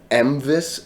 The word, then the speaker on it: MVIS: in the day but we actually did a vote of how to pronounce this whether it was mvis or Mavis and it seemed like Mavis was the winner so that that